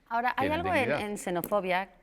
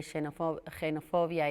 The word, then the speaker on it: xenofobia: xenofobia que de hecho yo creo que está aceptada la doble pronunciación de xenofobia y xenofobia que estas palabras con x que tuvieron un cambio de fonética y que en algunos sitios se hace de una manera u otra pero bueno lo digo yo voy